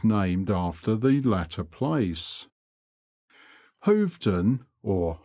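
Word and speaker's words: Hoveton: after the latter place hovton or hofton as it is locally pronounced is a great center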